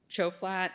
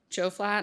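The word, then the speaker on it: Tjoflat: He served as a law clerk to Judge Chofflat. Did I pronounce that correctly? You did. Choflat on the 11th circuit.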